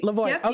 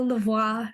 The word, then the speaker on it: Lavoy: here it's you know a lot of people go lavois and lavois I'll accept it it just makes me